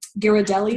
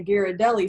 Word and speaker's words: Ghirardelli: A dark chocolate square, like one of those, I don't pronounce it right, but those Ghirardelli squares.